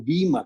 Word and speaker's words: bema: Nosotros utilizamos la palabra podio, pero la palabra es bema o bima, como lo quiera pronunciar.